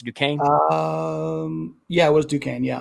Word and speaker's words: Duquesne: So after BYU's loss, so BYU in the first round, after they lost to Duquesne. Yeah. Is that how you pronounce it? Duquesne?